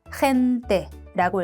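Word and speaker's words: gente: 자, 사람들이라는 뜻이고 몸 애를 만났으니까 목 긁는 소리를 내주면서 햄때라고 읽습니다.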